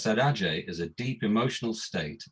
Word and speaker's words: saudade: And there's this concept in Brazilian music called, I'm not sure I can pronounce this word properly, but I think it's pronounced saudade, Saudade.